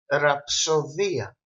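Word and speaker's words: ρο: is the letter R Ria rapsod Romi Rome actually in ancient Greek Romi used to mean power or strength the letter R is pronounced R like River this letter is is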